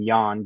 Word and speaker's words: Jan: it's Jan you know everyone calls him Jan because that's the mispronunciation of his name Yan J an um and